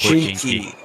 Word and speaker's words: Pochinki: Is that how you pronounce it? Yeah, definitely. It's called Pochinki.